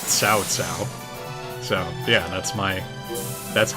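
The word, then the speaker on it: Cao Cao: that you know that cow cow is actually pronounced sow sow so yeah that's my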